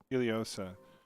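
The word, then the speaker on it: Ileosa: is Iliosa. Sabina is the queen's right hand. Got it. Sorry, taking notes. Queen Iliosa, we return this back to you from what was once taken.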